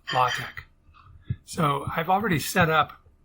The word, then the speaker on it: LaTeX: it's a mathematical type setting language and it's pronounced logic so i've already set up the instruction portion